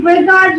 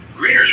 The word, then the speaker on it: Grignard: While the spelling includes Gnard, the usual pronunciation is like grin with a soft G, and then yard, almost like grin yard, not green eggs.